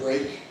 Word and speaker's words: brake pad: So we put the stress on the first element and we say break.